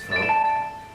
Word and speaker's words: pho: Eaten as both a breakfast and dinner meal, the noodle soup pho, pronounced pho.